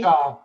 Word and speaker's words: Navamsa: So it's spelled N-A-V. Navamsa, but it's Cool.